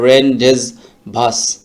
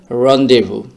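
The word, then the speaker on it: rendezvous: exceptional word এইখানে দেখেন যে উচ্চারণটা কিরকম হয় রেনডেজ ভাস এরকম একটা উচ্চারণ টোটাল এটার উচ্চারণটা হচ্ছে রডেভু এই শব্দটি আমরা প্রায়ই বলে থাকি যে শব্দটি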